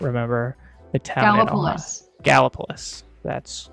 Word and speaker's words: Gallipolis: Gallipolis. That's correct. That's right. Did you just not want to pronounce it?